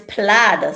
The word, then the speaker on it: plaid: That one is plaid, so we don't get aid, Ramesh.